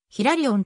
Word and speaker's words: ヒラリオン: を司る年かヒラリオンをヒラリオンと読むのは英語の発音に準じたもの日本の神智学